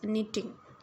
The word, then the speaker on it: knitting: Next is निटिंग, KNITTING, लेकिन के silent है, निटिंग प्रोनाउंस करना है।